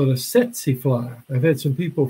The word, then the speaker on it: tsetse: Now, most Americans butcher it. They call it a tsetse fly. But it's one of those interesting words from another language where you don't pronounce the T in this case.